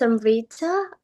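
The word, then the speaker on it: Amrita: So uh yeah uh Amriita uh so uh uh I'm pr pronouncing your name as Amriita is it right way? Uh yes my name is Amriita and my surname is.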